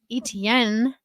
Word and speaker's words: Etienne: Travis Etienne.